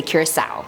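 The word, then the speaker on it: Curaçao: Curacao, both pronunciations are apparently correct, so whichever one you guys want, I'm gonna say Curacao.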